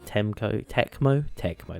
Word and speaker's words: Tecmo: This is a beach volleyball game released in 2003, developed by Team Ninja and Tecmo, that's how you say it.